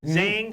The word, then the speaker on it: Zhang: Am I pronouncing that right? Zhang.